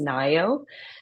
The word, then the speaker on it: Ngaio: And just so those of your listeners who are watching will be able to make sense of my name, the easy way to pronounce it is Ngaio.